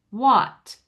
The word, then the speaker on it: what: It's not as closed as an all sound, but it's still not as open as we do it. We say it like the ah in father, in the American father. Theirs is more rounded. What? What? It's still oh.